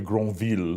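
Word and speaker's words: Grenvil: Well, actually, we've decided on the pronunciation being Dr Granvil because the conductor's French.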